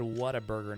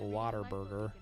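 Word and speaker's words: Whataburger: I said what a burger, not water burger. I pronounce it the way it's spelled.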